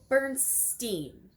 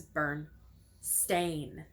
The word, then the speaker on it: Berenstain: called Bernstein or Berenstain normally people would say Bernstein that in all actuality it was burned stain differences spelling difference of pronunciation it's actually quite a